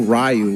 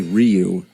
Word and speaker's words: Ryu: like in Street Fighter we didn't know rayu was actually Ryu Blanca some people wait